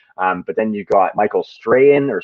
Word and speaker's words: Strahan: But then you got Michael Strahan or Strachan. I'm not sure exactly how to say it. It's supposed to be Strahan, but I knew a guy named Cam Strachan. We pronounce it Strachan.